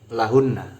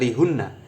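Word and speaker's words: لَهُنَّ: Li bertemu hu berarti membacanya lahu. Li bertemu kum maka membacanya lakum. Li bertemu hunna maka membacanya lahunna. Bukan lihunna, bukan lihu, juga bukan likum.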